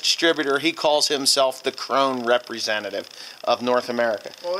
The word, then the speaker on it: Krone: You know, you guys have 75,000 different ways to pronounce Krone. K-R-O-N-E. Krone.